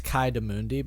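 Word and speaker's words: Ki-Adi-Mundi: It's Kai Demundi, but Oh, okay. him too. What's that Adi for? Or do you just... Kai Demundi? Yeah, it's Kai, A-D-I, Mundi. And that's how you spell it. Anyway, you just don't pronounce it like that.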